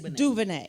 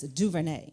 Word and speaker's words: DuVernay: It's DuVernay. You have to say it like this, DuVernay.